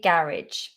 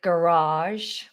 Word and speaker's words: garage: I say garage. I think in America they say garage, garage. They pull out that second vowel, garage, garage, garage, garage, garage.